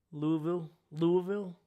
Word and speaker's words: Louisville: It's pronounced more like Louisville if you are from the town. Louisville.